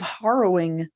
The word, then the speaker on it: harrowing: This says it sounds like rowing. H-E-H. I think that's closer to how I pronounce it than you do. Yeah, I say it with a soft A, huh? Yeah. Harrow. But I guess, yeah, like arrow with an H in front of it.